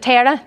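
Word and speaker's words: Terah: I actually don't know if I'm pronouncing the name right. Does anyone know? Is it Tara, the father? Yeah, there we go.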